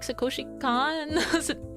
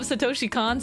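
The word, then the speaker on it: Satoshi Kon: know anything by like Sakoshi Khan. Wait, I got his name wrong." But but then you like bring up, you know, like Tokyo Godfathers. You bring up Satoshi Khan stuff and they're like, "Huh?"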